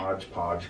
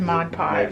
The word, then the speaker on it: Mod Podge: watch the ones where you say modge podge because you say it wrong i don't whatever oh my gosh you just said mod podge mod podge i know